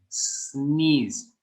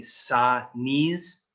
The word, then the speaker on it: sneeze: is called a sneeze sneeze it's not sadness many thai students will say sa knees do not say like that just sneeze sneeze and if if you